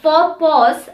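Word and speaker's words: faux pas: can think of that has a silent x in them is for which is also derived from a french word and for pause which means to have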